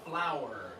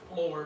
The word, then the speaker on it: flour: up again so yeah everybody say flower just like the uh P two Sy it sounded a little bit like Flor but know what you